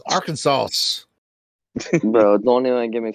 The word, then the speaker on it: Arkansas: No, I learned that in Yeah, the the last S is silent. Learn that in the streets, cuz Arkansas.